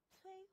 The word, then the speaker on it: 摧: 朝鲜，战役，屡次，摧毁，摧是个平舌音，我们再来读一读这个词语，摧毁，匍匐